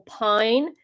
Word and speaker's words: pine: was just talking about so for example Pine you don't hear the E and you hear it makes the vowel say the long sound so that would be